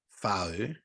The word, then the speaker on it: Whau: it may be pronounced foe because I know in Maori language the wh is pronounced fur and that's only because